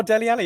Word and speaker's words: Dele Alli: Rhymes with Melly Nally. Oh, Dele Alli, of course.